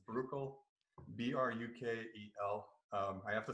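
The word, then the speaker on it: Brukel: up in so it's it's very belgian in its pronunciation it's actually political but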